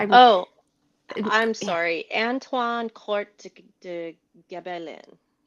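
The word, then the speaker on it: Antoine Court de Gébelin: U Marie, will you help me pronounce this? I'm Oh, I'm sorry. Anwine court de Gabellin.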